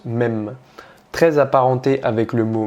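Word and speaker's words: מם: En étudiant la science des langues, on remarque que la lettre M dans le langage hébreu se prononce mem, très apparenté avec le mot maïm qui signifie eau.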